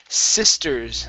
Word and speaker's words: sister: go to the word sisters instead of sister sister short i sound sisters or sorry sister sister